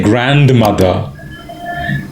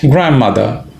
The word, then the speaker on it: grandmother: again I didn't say grandmother grandmother the D in fact even the N is dropped grandmother grandfather the D the